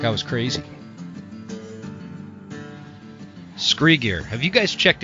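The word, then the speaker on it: Skre: my proven gear is scree scree is spelled s-k-r-e it's kind of a play on the word from scree rock found at the bottom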